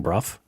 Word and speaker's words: Bruff: Adele Bruff uhuh oh she says it's like rough it's rough being Bruff oh okay so Adele